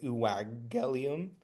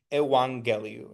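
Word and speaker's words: εὐαγγέλιον: and I didn't say uwagelium or iwageliu. If you have two gammas next to each other, the first one's pronounced like a n. So No. yeah, it's just So it's evangeliu instead of iwageliu.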